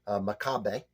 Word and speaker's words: Macabeu: Macabeu.